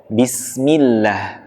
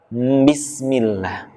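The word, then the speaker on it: بسم الله: Harusnya Bismillah. Yang kurang tepat Bismillah. Oke. Kita lanjutkan lagi membacanya. Ayat yang ke-1 ini yang pertama dengan tanpa huruf M pada huruf B-nya. Ba, bukan mba.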